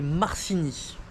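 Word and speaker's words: Marcigny: meéga ah alors attendez je vous dis le nom de la ville parce que à chaque fois je prononce mal c'est ma alors c'est marcini voilà donc c'est vé mega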